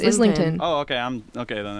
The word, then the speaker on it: Islington: Why isn't it Islington? What are we doing? Isn't it Islington? No, it's Islington.